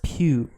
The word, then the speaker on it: Pugh: joined the cast lawrence pugh raymie malik and benny day florence pew romney malik and benny saftey join the captain is how that's pronounced how is that any